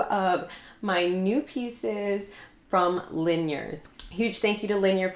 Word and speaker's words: Linjer: So it is pronounced Linjer or like linear.